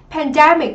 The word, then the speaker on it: pandemic: Pandemic thì chúng ta sẽ có trọng âm rơi âm tiết thứ 2, pandemic.